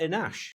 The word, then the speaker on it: Enache: Enash. Is that right? Is that pronounced right? Correct.